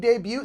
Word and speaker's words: debut: Labor Day 2021 will be its big debut, so say it in whatever way works for you. How do you say that word? Debut. Debut? Yeah. There's no T.